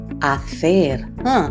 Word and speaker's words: hacer: Cenar, cine, hacer. The H is silent, Cero, cebra, ciudad.